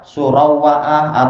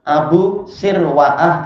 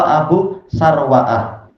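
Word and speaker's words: أبو سروعة: Mungkin sebagian akan membaca apa? Surawa'ah atau saru'ah atau apa. Makanya dijelaskan oleh Imam Nawawi cara membacanya. Sahabat ini kunyahnya adalah Abu Sirwa'ah atau Abu Sarwa'ah. Wawunya tidak disukun, tidak pula di tasdid, tapi di fathah.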